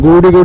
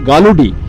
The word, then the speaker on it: Galudih: মতো দেখাচ্ছে আর কি আমি নামটা একটুখানি ভুল প্রোনাউন্স করছিলাম গরুডি করেছিলাম বেসিক্যালি রাত্রি হচ্ছে নামটা হচ্ছে গালুডি আমাদের হাতে আরেকটা দিন